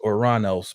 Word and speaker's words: Uranus: the the powerful uh Uranus and y'all bear with me I normally pronounce it as oranos but that's the traditional I'm I'm gonna go